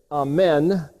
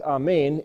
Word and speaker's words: Amen: word A-M-N, which is, if you put an E there, it's Amen, or the Hebrew way of pronouncing it is a little bit more like Amen, and it means, so be it.